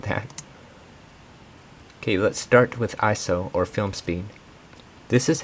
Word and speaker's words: ISO: i heard that's pronounced iso not iso it's not an acronym aperture and shutter speed